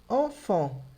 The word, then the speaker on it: enfant: E logo em seguida eu tenho enfant, que é criança. Duas vezes som de en.